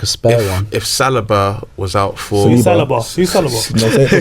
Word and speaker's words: Saliba: Saliba.